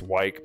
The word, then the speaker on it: Wyke: East Wyke, or Wick, I can never remember how to say it. I think it's Wyke, because Pike, like Old Wyke, East Wyke, Pike, yeah.